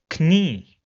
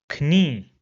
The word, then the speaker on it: Knie: Or this word, which means knee, will be pronounced as Knie, Knie. So you see, we have the K sound first and then the N sound.